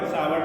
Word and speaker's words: Savart: ऐसे करो सीधे, बायो सावर्ट ला लिखो सीधे। बायो सावर्ट ला को पढ़ा रहा होगा अपने बोर्ड में बहुत।